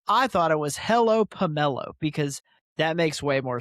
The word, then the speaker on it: Pummelo: Uh they're going to say pummelo, which I don't think is right.